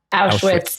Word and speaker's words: Auschwitz: Going back to my question, you went to Auschwitz, and is that how you pronounce it? Auschwitz? Auschwitz.